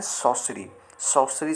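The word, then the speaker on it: sorcery: यहां पर आया है sorcry बट आर साइलेंट होता है जिसे हम कहते हैं सौर्य चार्जेस केरल कपल चार्जेस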